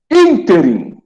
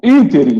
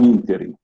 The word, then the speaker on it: ínterim: Então, ínterim, tem um acento. Inter é de interino, presidente interino, aquele que assume por um determinado tempo. Então, ínterim, não ínterim.